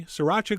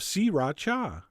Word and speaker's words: sriracha: the same amount of sriracha which is how I've been told to pronounce it three distinct syllables although you know what that sounds kind of weird I'm going back to sriracha and then besides the